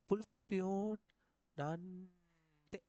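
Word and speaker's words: 불편한데: ஆனால் இவரத்துக்குள்ளே வந்துட்டு புல்பியோன் ஹந்தேன்னு சொல்லி வாசிக்க போப்படா எப்படி வாசிக்கணும் புல்பியோ இன்னும் வந்துட்டு இந்த ஹானோட உச்சரிப்பு இல்லாத மாதிரி இந்த இன்னையும் ஆவையும் சேர்த்து புல்பியோன் நந்தே அப்படி ஒன்று வச்சுக்கணும்.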